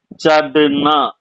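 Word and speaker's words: चढ़ना: சடுனா சடுனா சட்டோ இல்லையா நீங்க வந்து சாதனான்னு சொல்ற மாதிரி வருது பாட்டு பாட்டு கத்துக்கறவங்க பாட்டு கத்துக்கறப்ப சாதனை செய்வதுுந்த சாதன சாதனா பண்றதுன்னு சொல்லுவாங்க அந்த மாதிரியான உச்சரிப்பு வராது இது சடு சாடு சடு சடுனா சடோ சடியே உச்சரிப்பு இப்படி வரணுங்க சடுனா சடோ சடியே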